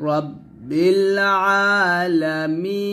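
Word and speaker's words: رب العالمين: এখন আলহামদুলিল্লাহি রাব্বিল আলামিন আমরা এখানে অনেকে বলি রব্বিল আলামিন বলি এই আইনের উচ্চারণটা চাপ দেয় না হামজার মত উচ্চারণ করি তো হামজার মত উচ্চারণ করলে হবে না একটু চাপ দিতে হবে রব্বিল আলামিন এরকম ভাবে আবার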